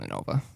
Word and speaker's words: Innova: I'm gonna post in it because I think my disc was in Innova. Was it in Nova? Yeah, that's how you say it.